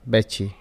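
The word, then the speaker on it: بچي: Please note that the calf pronounced as cha. So بتشي.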